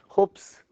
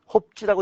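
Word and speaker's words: Hobbes: 홉스. 리을이 홉스인줄 알았으면 좀 훌륭한 거야. 홉스. 홉스 써봐. 홉지라고 읽기도 하는데 내가 홉스라고 했더니 누가 또 나도 무식하다 그러더라고. 나 그냥 홉스라고 읽어. 근데 홉지라고 읽는 사람들도 있어.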